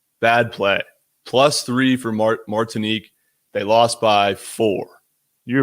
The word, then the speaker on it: Martinique: sold me on taking martinek is that how you say it mark what is it martinique mark martinique i thought it was martini q guy i didn't even